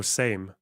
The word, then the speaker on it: Sejm: Oh, same, it's pronounced, isn't it?